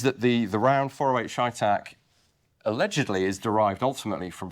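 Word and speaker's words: CheyTac: have a spare Barrel caliber shac however you want to pronounce it I say sha Tac but that's fine so there is allegedly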